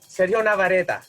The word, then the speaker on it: Sergio Navarrete: Sergio Navarrete.